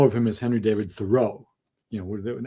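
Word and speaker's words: Thoreau: thinking about him that is Henry David thorough. But uh you know he they say that he really wanted it he pronounced it thorough.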